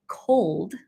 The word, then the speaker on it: cold: is L endings so L endings often go into just o for example a word like cold where there's supposed to be an L oftentimes Chinese speakers in general Mandarin and Cantonese there's no l sound the tongue doesn't hit the roof of the mouth and it becomes just a vowel so my husband then